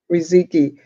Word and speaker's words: Riziki: And tell me, Riziki, am I Yes. pronouncing it right? Yes, ma'am. Riziki.